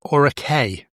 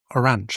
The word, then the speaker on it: orache: I actually think you pronounce it orache. I've been saying orange, haven't I? There's no N in it.